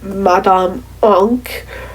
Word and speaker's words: Madame Oink: Um anyway, uh other guest stars would have included Madame Oink or as she often did Chuck in her name pronunciation, Madame Ank, but I pronounced it the American way because frankly that's easier.